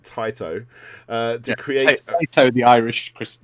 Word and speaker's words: Taito: sega they're teaming up with tato uh i'm not saying it right taito to create the irish